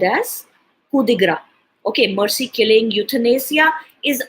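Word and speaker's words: coup de grâce: Okay then another word again with coup is coup de grace, and it is not as pronounced as coup de grace, it is pronounced as coup de gras.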